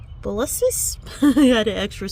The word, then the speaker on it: Convolvulus: These I really need to work on my pronunciation. Convolvulus. Convolvulus.